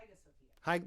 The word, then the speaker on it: Hagia Sophia: Hagia Sophia.